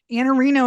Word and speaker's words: Iannarino: Iannarino is how you pronounce it, but your Twitter is IANNARINO.